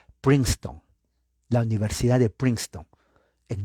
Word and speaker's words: Princeton: google universidad de princeton se lee en español princeton pero se pronuncia en inglés prince la e no se pronuncia la c s princeton la universidad de princeton